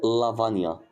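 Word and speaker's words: lavagna: كلمه زي او الحروف زي الجي ان ماشي دي كده برض الجي بتتنطق ني بتتنطق ايه ني زي كلمه لافانيا لا بص قلت بقى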